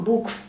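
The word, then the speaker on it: book: н долгая у Мун Но если после двух букв O стоит буква K то здесь Это сочетание букв читается кратко у к бук книга к смотри лук смотри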